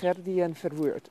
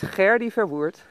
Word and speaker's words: Gerdi Verwoert: I thought, okay, so that's how they pronounce my full name, Gerdien Verwoert. Gerdien, not even Gerdien, Gerdien Verwoert. Which, I suppose, if you look at the way my name is spelled and you're German speaking, is the proper way to pronounce my name. In any case, it's Gerdi Verwoert, and I'd love it